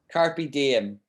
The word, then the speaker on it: carpe diem: like this carpe diem so it's latin but it's used in english a lot and we just say it like a latin word carpe diem and this means seize